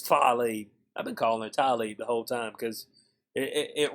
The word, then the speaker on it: Tlaib: For some reason, I think that's spelled wrong. I think it's Tlaib. I mean, it's Tlaib. I've been calling her Tlaib the whole time because it rolls off the tongue better.